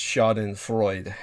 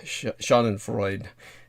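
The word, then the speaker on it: Schadenfreude: it's horrible anyway but I think it's pronounced shaen Freud sha and Freud I think I think something like that but I might be wrong maybe it is the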